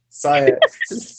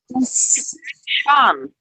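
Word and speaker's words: Siân: So it's spelled Cyan though. It's spelled like that, but it's a Welsh name. Sean. It's Welsh name. Cyan. Be respectful, man. That's not her name. It's Sean.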